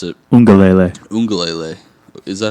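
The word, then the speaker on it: Uiagalelei: Freshman quarterback DJ Ugalele, I think that's how you pronounce it. Ungalele. Is that how you pronounce it? Yeah, there's an N in there, I think.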